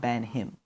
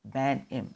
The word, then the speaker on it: Banim: Not Banham. Banham. I will spell it for you. John space Banim. Look into that.